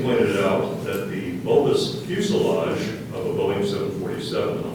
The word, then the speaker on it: fuselage: n i c pneumonic the word is fuselage fuselage fuselage can I have the definition please